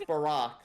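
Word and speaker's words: Barok: And his first name is pronounced Barack, like Barack Obama.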